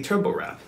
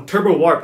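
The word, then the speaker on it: TurboWarp: loading screen it's actually turbo wrap turbo wrap no turbo warp I'm so sorry I keep saying it wrong turbo warp that's right scratchgo is actually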